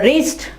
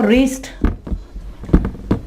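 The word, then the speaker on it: wrist: और रिस्ट, क्लाई को कहते हो रिस्ट, W के बाद R है तो W क्या हो जाएगा, साइलेंट हो जाएगा।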